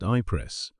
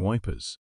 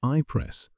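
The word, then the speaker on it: Ypres: to reach calile and once at ipress which the disrespectful Tommy insisted upon pronouncing wipers the attempts to reach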